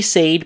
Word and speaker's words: said: So you might think it's pronounced a, but in fact it's pronounced e like like in get or left. They said nothing about their plans. Not they said, but they said nothing about their plans.